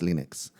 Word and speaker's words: Linux: So, so he's basically My name is Linus Torvalds, and I pronounce and I pronounce Linux Linux.